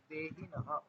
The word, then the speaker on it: देहिनः: न के बाद विसर्ग है, देहिनः।